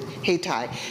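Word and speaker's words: Hayti: this city called hatai named after Haiti but they pronounced it heitai it's known as the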